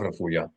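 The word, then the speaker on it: רפויה: Accent the last syllable. Refuya. Yeah, tav refuya.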